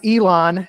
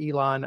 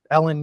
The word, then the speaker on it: Elon: sure to add no uh just uh it's Elon University so El n Elon um although you know Ellen University sounds cool too so it does I'm